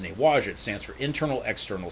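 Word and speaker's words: Nei Wai Chia: Now it's spelled N-E-I-W-A-I and then Chia, but it's pronounced Newaja.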